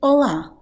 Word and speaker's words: olá: So, when you say olá, make sure to emphasize the 'a', instead of the 'o', ok? So I know that if you speak Spanish the pronunciation would probably be stronger on the 'o', 'hola.' But in Portuguese, pronunciation, the emphasis should go to the 'a.'